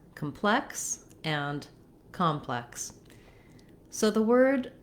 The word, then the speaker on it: complex: In the word complex, the adjective, we have second syllable stress, which means the plex part of the word is held longer and has a clear vowel.